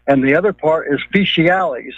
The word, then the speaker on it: fecialis: And the other part is fecialis. It's spelled two different ways, F-E-T-I-A-L-E-S and F-E-C-I-A-L-E-S. And you might note that the fecialis sounds a lot like feces because it really is